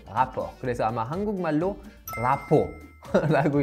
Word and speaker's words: rapport: 일단 라포르라는 말은 원어민 발음으로 rapport 이렇게 R 크게 이렇게 할 필요는 없고 rapport.